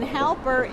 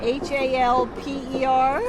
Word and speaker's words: Halper: We're talking today to Halper, and that is spelled, and then Halper, Halper.